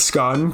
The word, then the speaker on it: scone: Not the polarizing point about the pronunciation of scone, because that's obviously scone.